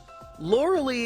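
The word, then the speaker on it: Lorelei: isn't fantastic for Charmander lorilee isn't too bad or laura-leigh I know people get very upset by how I pronounce her name but she's not a real person and I've always called her laura-leigh so I'm gonna continue to do so because I'll do it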